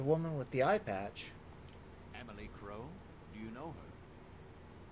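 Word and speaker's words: Amelie: I just realized I've been mispronouncing her name this whole time. I've been calling her Amelia Crow. It's Emily.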